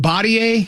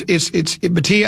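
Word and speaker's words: Bhatia: Is it Batier? How do you say his name? Batia. It's Batia, and then who was the third in that group?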